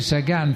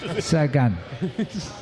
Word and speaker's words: Sagan: We had a long time mispronouncing Jamaluddin Abdul-Japarov. It took a while, and finally, and Peter Sagan, funny enough, doesn't sound a bad name, but we asked Peter how to say it. He goes, Sagan.